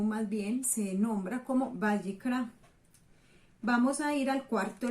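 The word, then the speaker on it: ויקרא: Y en hebreo significa, o más bien se nombra como Vayikra.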